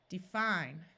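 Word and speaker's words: defy: a long e sound the time when it has a long I sound is when the syllable is accented so right here we have defi this syllable fi is accented so the Y has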